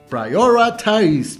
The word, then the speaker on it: prioritize: Es un poco complicado en inglés por la pronunciación, pero se dice prioritize, prioritize, prioritize, prioritize.